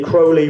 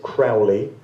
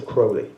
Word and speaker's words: Crowley: Incidentally, Crowley would appear to be the correct pronunciation of his name. A lot of people pronounce it Crowley as I did for many years, but u